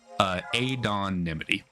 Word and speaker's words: Adonimity: For pronunciation, I want it to be pronounced Adonimity. And so for some background, the kind of root word that I used is anonymity. Anonymity. Kind of coming from anonymous, anonymity, all of that.